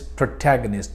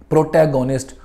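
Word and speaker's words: protagonist: चाहिए, and that is प्रोटैगनिस्ट, the main character in a story, in a drama, in a movie. प्रोटैगोनिस्ट और प्रोटैगोनिस्ट इज नॉट the correct pronunciation, the correct pronunciation is प्रोटैगनिस्ट।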